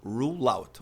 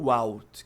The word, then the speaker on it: rule out: Rule out. Olha o L lá. ruleout e não rout. Quem não pronuncia o L acaba falando ru e aí as pessoas podem entender o que você tá falando, tá?